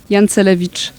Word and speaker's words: Jancelewicz: Et, et votre nom, c'est vous qui allez le prononcer? Jancelewicz.